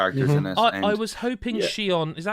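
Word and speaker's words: Shionne: I was hoping Shion. Is that how you say it? Shion, yeah.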